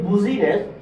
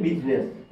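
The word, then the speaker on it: business: হচ্ছে বিজনেস বিজনেস বিজনেস আপনি যদি এটাকে যদি উচ্চারণ করেন যে বুঝিনেস অথবা বুঝিনেস তাহলে একটু বিশ্রি হয়ে যায় না তো বিউটিফুল এটাকে সৌন্দর্য বৃদ্ধির জন্য এখানে আপনার এটার উচ্চারণ হয়ে গেছে বিজনেস এখানে উচ্চারণ হয়ে গেছে বিজনেস ঠিক আছে তারপর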